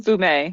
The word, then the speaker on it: fumet: There's a wide range of preparations, such as coulis, reduction, and stocks, or fumettes. Is that the right pronunciation? Fumet.